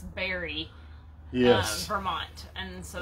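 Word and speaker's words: Barre: we think it's pronounced berry it's spelled b-a-r-r-e so of course i would have said bar but we think it's barry yes vermont and so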